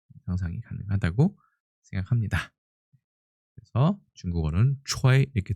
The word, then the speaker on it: 炊: 그래서 중국어는 초이 이렇게 돼 있고요. 이거하고 좀 비슷하게 생기면서 발음도 똑같고 중국어 발음도 같은 것을 살펴보면 불취자가 있습니다.